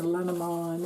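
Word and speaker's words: Lenormand: omnid Magic Shazam it's the magic lenorman or lenamon if you want to pronounce it in French or if you're like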